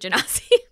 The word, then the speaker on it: genasi: is, it's like -- I think it maybe is supposed to be pronounced like JEN-uh-sigh or something -- but it's like, it's, yeah,-- Jake: Oh. Noel: --it's something to do with -- I don't know, I pronounce it jen-AH-see, but it's related to